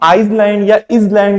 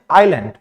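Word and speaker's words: island: pronounce नहीं करते हैं आईलैंड में एस आया है लेकिन इसको हम आइलैंड या इज लैंड नहीं प्रोनाउंस करते हैं इसको हम प्रोनाउंस करते हैं आईलैंड यहां पे सी आया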